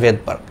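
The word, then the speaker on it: Svedberg: সুইডেনের প্রাণ রসায়নবিদ থিওডর ভেদবার্গ, এর নামের অক্ষর এস দিয়ে হচ্ছে তোমার বোঝানো হয়। বাট এটা রাশিয়ান ভাষাতে এসটা হচ্ছে অনুচ্চারিত থাকে, এজন্য উচ্চারণটা হচ্ছে ভেদবার্গ।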